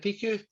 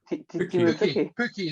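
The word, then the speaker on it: Pukki: Is it Piku? Pookie, that's it.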